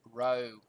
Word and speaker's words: Rho: a lowercase P most the time but it's pronounced Rho so if you can remember from a few